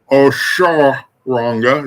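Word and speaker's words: Osoronga: Oshoranga is how it's pronounced.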